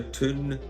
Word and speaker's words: Toon: Paint the Toon red. Yes, Toon is in Toon. That's how they say it in Newcastle, just as Lou Nixon.